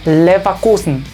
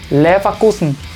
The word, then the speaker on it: Leverkusen: Como ven, tenemos una V, pero la V no está al principio, está, digamos, ya en medio de la palabra. A pesar de eso, el sonido, o sea, F, se mantiene, pero no es tan fuerte. Esto se le diría Leverkusen. Leverkusen.